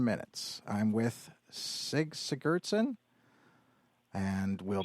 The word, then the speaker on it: Sigurdsen: I'm with Sig Sigurdsen, and we'll Sigurdsen. be right, Sigurdsen. The Scandinavian Germanic pronunciations are always on the first syllable instead of the second syllable, like Latin names.